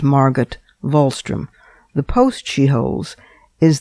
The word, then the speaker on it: Margot Wallström: Her name is Margaret Volstrom. It's spelled M A R G O T W A L L S T R O M pronounced Margaret Volstrom.